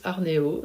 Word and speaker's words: Arnev: Pour moi, c'est le trench parka Arnéo. Alors, ça s'écrit Harneve mais ça se prononce Arnéo.